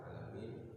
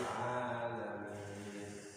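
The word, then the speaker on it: العالمين: Alhamdulillahirabbil alamin. Jadi kalau baca alamin ya alamin. Kalau hurufnya ain dibacanya ain. Alamin. Gak boleh kita baca alamin. Kalau alamin itu pakai alif, tapi kalau alamin pakai huruf ain.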